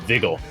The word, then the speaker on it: Vigil: leitmotif for Vigil. Okay. Vigil? Vigil? What? Vigil. His name rhymes with pickle.